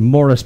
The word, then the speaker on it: Maurice: from Herbert Blythe to Morris baramore spelled Maurice but English pronunciation to spirit's family the